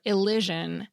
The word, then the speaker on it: elision: louder, or higher pitch, as in grammar, where the first syllable is stressed, or elision, when the second syllable is.